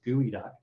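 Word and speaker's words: geoduck: called pacific gooey duck spelled g-e-o-d-u-c-k but are are pronounced gooey duck and so these fish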